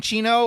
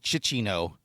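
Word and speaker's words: Cinccino: Next up, number three is the uh is it Cino or is it Chino? I have always called it Cino.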